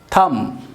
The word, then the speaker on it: thumb: तो सिर्फ कहना है कि हम पर स्टॉप थम थम थम थम ए बी कि पायलट ए